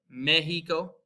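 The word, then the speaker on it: México: The second is pronounced like the letter H, and it's reserved for certain words that are derived from them. So we have like Mexico, mexicano.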